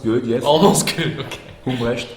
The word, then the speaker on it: Humbrecht: I pronounced it correctly? It's almost good, yes. Almost good, okay. Humbrecht. Humbrecht, okay, there you go.